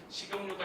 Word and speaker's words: 식용유: 그런데 얘 표준 발음은 어떻게 돼요? 어떻게 돼요? 얘가 연음 현상이 돼서 위로 올라와야겠죠. 그래서 뭐가 돼요? 식용유 이렇게 되고 있었습니다.